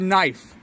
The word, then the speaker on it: knife: That's like silent letters. And like the word knife. Dude. Just get rid of the K.